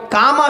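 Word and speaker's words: قاما: শব্দটাকে মিটিয়ে দিতে হবে এবার কামা বিরাট কামা এই শব্দটা মানে উচ্চারণ করতে হবে কামা শব্দের মানে হলো দাঁড়ানো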